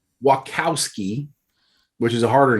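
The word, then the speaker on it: Wachowski: when lana thank god you said it right wackowski which is a harder name yeah uh she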